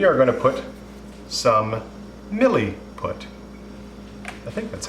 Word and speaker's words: Milliput: We are going to put some Milliput. I think that's how it's pronounced. This is called Milliput. Milliput, yeah.